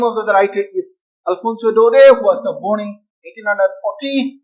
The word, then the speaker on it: Daudet: This T is not pronounced, and this pronouncing, this is like O, do, de. T is not pronounced, it is a silent.